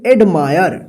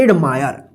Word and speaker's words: admire: जैसे यहां पे देखिए ADMIRE, इसको क्या पढ़ेंगे, एडमायर। देखिए एडमायर, देखिए क्या हुआ, आई के बाद RE है ना लास्ट में, तो एडमायर, मायर, आयर उच्चारण हुआ है ना।